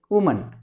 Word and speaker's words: वुमन: और उसके बाद अगला वर्ड है फिर से वुमन। ये वर्ड मैंने इसलिए भी लिया है क्योंकि यहां पे इसको प्रोनाउंस करने में अक्सर गलतियां हो जाती हैं। वुमन एक महिला और विमेन बहुत सारी महिलाएं।